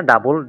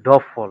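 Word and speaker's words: Doppel: এটা হচ্ছে ডা বল আমরা তো ইংলিশে বলি হচ্ছে ডাবল না কিন্তু জার্মানি বা ডয়সে বলা হচ্ছে ডফল ডফল ওকে তাহলে ডফল এফ হবে হ্যাঁ ডফল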